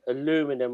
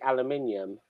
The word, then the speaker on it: aluminium: Like Americans say aluminum, or we say aluminium.